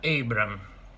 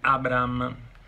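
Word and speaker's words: Abraham: Buongiorno a tutti, Abram, si pronuncia Abram. Prima che di sentire una camionata di Abram, vi dico che si pronuncia Abram.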